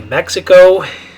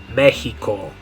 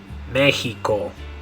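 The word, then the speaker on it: México: Okay, in English we say Mexico. In Spanish, you're going to say Mexico. Mexico. Okay, We'll get to the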